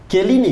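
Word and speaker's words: Chiellini: Ah kalau C ketemu H kayak Celini tetap K. Kelini kelini Kelini.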